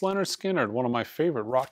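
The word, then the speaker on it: Lynyrd Skynyrd: a 45 RPM Leonard Skynyrd 45 RPM of pronounced Leonard Skynyrd one of my favorite Rock titles at Analog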